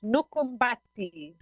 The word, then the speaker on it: Nukubati: And we have Lara with us right now from Nukubati. Nukubati. Lara, welcome to Scuba Radio. How do you say it exactly? Hola, Greg. Thank you. It's Nukumbati. Nukumbati.